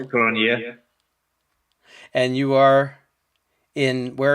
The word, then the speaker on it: Cronjé: time i'm joined by okay you pronounce it skull cornea and you are in